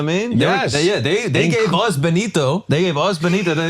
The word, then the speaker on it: Benito: His name is Benito.